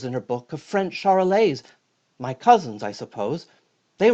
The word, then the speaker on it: Charolais: I'm a Charolais. It kind of rhymes with parler, which is how you would say to speak if you said it in French.